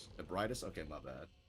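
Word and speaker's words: Ebrietas: Ebridis. Okay, my bad. Not abritos.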